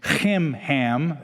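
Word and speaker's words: Chimham: These are odd names. Kimhham is how you'd pronounce it.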